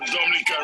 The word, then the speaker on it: Dominica: good it is spelled d-o-m-i-n-i-c-e it is not dominican republic it is pronounced dominica and situated between walu and martinique